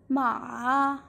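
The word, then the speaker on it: 马: means mother and ma in the third tone ma means horse and ma in default tone ma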